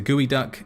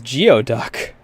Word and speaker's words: geoduck: only, such as the gooey duck, said to be the world's largest borrowing clam, which can live to 150 years. Also, is that really how it's pronounced? I thought it was Geoduck.